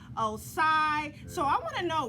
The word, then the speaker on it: OSCYI: pronouncing his name wrong i've been saying oci but it's really osai so i want to